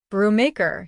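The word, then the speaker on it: Brubaker: I mean B R U B A K E R. Mr. Mortimer corrected smoothly into the phone. Brew maker, he pronounced.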